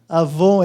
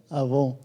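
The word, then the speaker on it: עָוֹן: A palavra que aparece ali para iniquidade, quando eu falo ela, você se lembra num produto de beleza, né? Que é Avon. Avon é a palavra hebraica aí, essa é a pronúncia, né? Avon.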